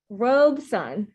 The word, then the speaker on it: Robeson: that says rogue sun robe sun i'm cutting out there you go so in case anyone forgets how to say robeson it's two syllables it's pretty amazing all